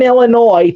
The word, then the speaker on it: Illinois: Two of them are in Illinois.